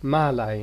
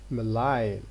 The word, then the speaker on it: malign: swallow allow malign line we don't see malay no we say melaye so when the next